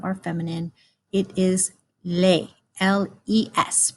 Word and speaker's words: les: And then if we have more than one of something that's either masculine or feminine, it is les, L-E-S, pronounced les.